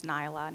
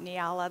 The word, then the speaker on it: Nyla: just wanted to say my name's Nyla not niala that was a mishap